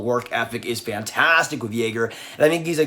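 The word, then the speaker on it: Yager: years back i'm like please have it be pronounced yogurt but it is not it is jaeger but he's still a pretty fantastic player he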